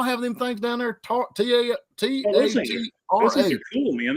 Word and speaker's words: Tatra: They were or is it the Tartar or is it Tatra? Tatra. That sounds right.